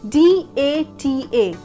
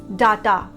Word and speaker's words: data: because of the spelling D-A-T-A. Most of us pronounce it as data. D-A because of D-A da. But no, it's D-A-Y day and T-A ta. So the proper pronunciation will be data.